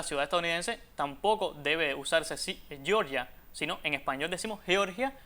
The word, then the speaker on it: Georgia: Bueno, en ese caso ahí la capital de Georgia, que me alegro de que lo hayas pronunciado así, Georgia, porque aquí no debemos decir Georgia porque ahí no se habla inglés y de hecho, para